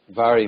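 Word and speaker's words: Mhairi: Kevin Burton Anastasia goetti Vari Maxwell I just learned that MH is pronounced in GAC as uh V I didn't actually know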